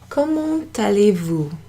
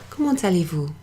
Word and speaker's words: Comment allez-vous: Comment allez-vous? Comment allez-vous? Comment allez-vous?